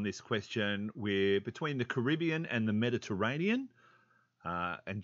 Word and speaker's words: Caribbean: split uh on this question we're between the caribbean and the mediterranean uh and just uh for your information it's pronounced caribbean not caribbean uh caribbean and mediterranean